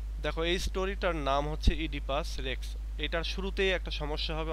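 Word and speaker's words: Oedipus Rex: এই স্টোরিটার নাম হচ্ছে ইডিপাস রেক্স এটার শুরুতেই একটা সমস্যা হবে অনেকেরই সেটা হচ্ছে এটার উচ্চারণ নিয়ে তো এটার উচ্চারণের ক্ষেত্রে আমরা এই ও টা উচ্চারণ করবো না কিন্তু লিখার সময় কিন্তু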